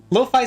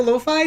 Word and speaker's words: Lo-Fi: Because I know sometimes like I is pronounced as E, so I didn't know if it was like I didn't know the exact way to pronounce it, but finally I've got it stuck in my head like hi-fi, lo-fi.